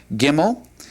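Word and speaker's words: גימל: It is pronounced gimmel and it has a definite G sound to it and we'll talk a little bit more about uh that later.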